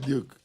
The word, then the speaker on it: Duke: entonces por fin es Duque o es Duke Duque du yo digo que es Duke porque la forma que está escrito es bueno el mi apellido realmente se pronuncia Duke de Colombia Pero mi